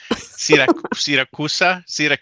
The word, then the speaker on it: Siracusa: Siracusa?